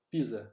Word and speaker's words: Pisa: o cortador de pizza porque pisa se pronuncia pizza como como se escreve pisa ter mais fome então